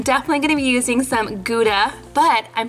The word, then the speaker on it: Gouda: And for the cheese, I'm definitely gonna be using some Gouda, but I'm pretty sure that Maeve would pronounce this howda, because that's how they pronounce Gouda where she's from.